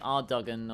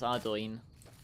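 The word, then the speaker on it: Ardougne: until you hear someone else pronounce it cuz it's spelled A R D O U G N E. But you'd think it'd be Ardogen or like Ardonia, but no, it's Ardoin just like the elven city of Prithinus.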